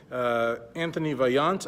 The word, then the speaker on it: Antoine Vaillant: The first story we're going to start out with today is what seems to be a feud between Antoine Vaillant, I believe is how you say his name, and men's physique Olympia champion, retired champion, maybe coming back champion, I don't know, Jeremy Buendia.